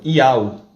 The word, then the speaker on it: יהוה: Então, qual vai ser a pronúncia do nome do Criador? Iau.